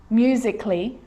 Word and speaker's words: musically: let's start making now the letter a can be silent especially in words that end in a l l y like these romantically musically logically so i'm not